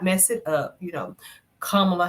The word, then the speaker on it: Kamala: Kamala Harris, whatever. Not Kamila.